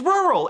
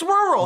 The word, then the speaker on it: rural: There's no TH in it. It's rural. It's rural. Rural.